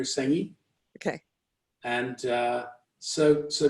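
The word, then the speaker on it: Senge: systems thinking but wait is it peter singer or how do you spell it s-e-n-g-e peter sengi okay and uh so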